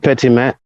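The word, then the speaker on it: Petitmaitre: sure that the record is clear uh please spell it for us uh my name is pitimet last name p e t i t m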